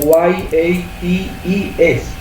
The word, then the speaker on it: Yates: Se escribe como Y-A-T-E-S, Yates.